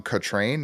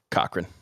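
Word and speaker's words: Cochrane: Originally by Tom Kot Train. Is that how you say it? Cochran. Cochran. Okay.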